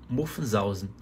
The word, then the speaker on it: Muffensausen: Muffensausen. Muffensausen. Sílaba tônica na hora de pronunciar é a primeira. Muffensausen.